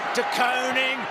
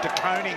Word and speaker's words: De Koning: De Koning, Bruce, and that's the way his parents would like him to be pronounced. A lot would say De Koning, but everyone is, his parents want De Koning, so that's what we'll go with tonight, Bruce.